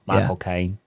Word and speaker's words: Michael Caine: You just try to say my cocaine. Yeah. But in a British accent, Michael Caine.